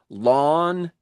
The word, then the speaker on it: lawn: For an English speaking native, lawn and learn do not sound the same.